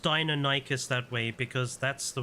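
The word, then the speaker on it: Deinonychus: that um you know when I was a kid the dinosaur magazines said it was pronounced they always separated it to dino nikus it's only recently in well I say recently but it's only since I've you know the the 2000s where I've been hearing it being pronounced as danicus and I don't know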